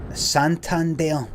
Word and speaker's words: Santander: Also, see Santander. That's a hard one to say because you're not used to doing putting the stress on the last syllable with an ER in English.